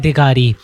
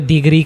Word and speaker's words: दिगारी: के साथ इलाका है दिगारी वो अधा-अधा कबाइल उसको अलग-अलधा तरीके से प्रोनाउंस करते हैं। जैसे कोई दिगरी कहता है कोई दिगारी कहता है और दिगार रे भी कहते हैं।